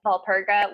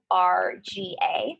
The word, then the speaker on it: Walburga: There's a few ways you could say her name, but we're just going to say Walburga, which is Walpurga.